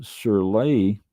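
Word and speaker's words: sur lie: on the fine leaves however and what's called suray s Ur r l i e aging uh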